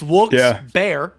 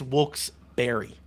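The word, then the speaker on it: Wilkes-Barre: there was a shirt that I loved it's wols bear like the animal wols Berry like the fruit or wols bar like a like a alcohol bar and and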